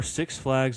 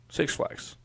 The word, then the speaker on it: Six Flags: I'm saying it like it's 2 words. You're saying it like it's 1. Correct. Yeah, it's 2 words. But you would say it like you're like emphasizing the 6.